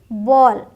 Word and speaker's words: ball: ALL जब आता है तो ऑल का साउंड आता है। BALL बॉल, बॉल की स्पेलिंग BOLL नहीं है, BALL है, बट बोलते क्या है? बॉल, वॉल, फॉल, हॉल, स्मॉल। ठीक, हाल, फाल, स्मॉल ये नहीं बोलना, ओ करके बोलेंगे, ध्यान रखिएगा।